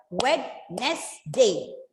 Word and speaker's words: Wednesday: But in actual, there are only 2 syllables because the D in between is going silent there. And even, yes, the D is going silent. And you pronounce this word as Wednesday.